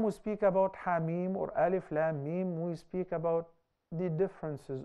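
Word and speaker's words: الم: concerning those letters, because we pronounce them as letters, not as words. Yeah. Sah? Yeah. We don't say Alam.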